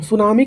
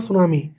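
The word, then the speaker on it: tsunami: यह स्टार्ट होता है टी से। सुनामी।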